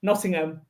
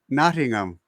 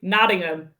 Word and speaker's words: Nottingham: Don't pronounce the H. Nottingham. Nottingham. Nottingham. Oh, wow. That's weird to pronounce the H. Okay. Or you say Noddingham.